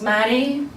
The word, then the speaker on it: Mairi: I thought would work hi my name is Maddie as in William which usually results in